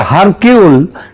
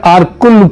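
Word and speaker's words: Hercule: Poirot এটা যদিও ওই উচ্চারু উচ্চারণে এটা হয় হারকিউল কিন্তু একচুয়ালি উচ্চারণটা হচ্ছে আরকুল পোয়ারো।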